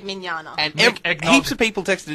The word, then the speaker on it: Mignogna: Anyway, Evie texted in and said it was Vic Mignogna. I don't know how to spell his last name. Now Mignog-na. Mignog-na. Eggnogged. Yuri Lowenthal. It's spelled Yuri Lowenthal. Mignog-na, but it said Mignana.